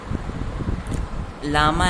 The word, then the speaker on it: llama: Next लामा एंड एल्पका। देखिए जो इसका प्रोनाउंसिएशन है यहाँ पे आप देख सकते हैं, प्रोनाउंसिएशन मैंने दे रखा है LLAMA लिखा है ना, लामा, एंड ये क्या है, एल्पेका, अल्पेका।